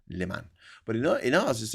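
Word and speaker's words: Léman: Yeah, in French it's called Liman.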